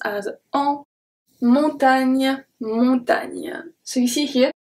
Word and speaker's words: montagne: Here, don't forget also that the GN is pronounced a bit like a ni, ni. It's a bit of an I at the end.